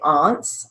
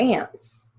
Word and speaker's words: aunts: You can either say aunts or ants, A-U, hands, ends, extends,